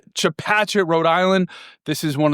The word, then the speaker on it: Chepachet: Did I pronounce Chapachet? Chapachet, Rhode Island.